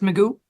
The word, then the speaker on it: McOo: You said your last name is pronounced Meoo.